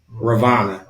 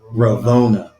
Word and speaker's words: Raona: off of uh raona I've been saying her name wrong raana it's raona we've been getting they